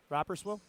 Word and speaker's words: Rapperswil: Rapperswil? Rapperswil.